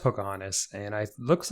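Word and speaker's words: Poukahangatus: a t u s but it's pronounced Pocahontas and I looks like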